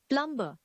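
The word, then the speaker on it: plumber: of February another word is यू मे be pronounce it प्लबो व्ट it actually is प्लंबर प्लंबर the next word is that pesky W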